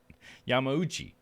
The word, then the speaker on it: Yamauchi: Yamauchi. That's how it would be. Ooh, that's the syllable.